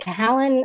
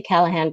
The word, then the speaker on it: Cahalan: Brain on Fire by Susanna, is it Cahalan? I'm not sure how to pronounce her last name. I always want to say Callahan, but that's not it.